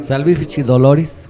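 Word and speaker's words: salvifici doloris: Este muy hermosa salv fichi doloris Así se pronuncia salich doloris doloris muy este en ese documento no es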